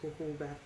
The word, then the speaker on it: jojoba: one spelled for j o j who it's pronounced jojoba oil sweet almond oil for dry mature skin